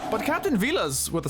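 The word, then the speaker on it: Villads: She might be the most appropriate, considering the name, but Captain Vilas, with a silent D, can just about match her impressive contributions. The name's Captain Vilas. The D is silent.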